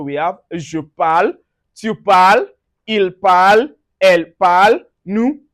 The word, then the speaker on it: parles: Also, in the present tense, the first, second, and third person singular form are pronounced the same. Even though they are spelt differently, just say je parle, tu parles, il, elle parle. All sound alike.